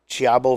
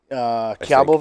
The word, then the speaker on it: Cibao: The wrapper is Dominican Chiabo Valley. Is that pronounced right? Close enough. Chiabo Valley.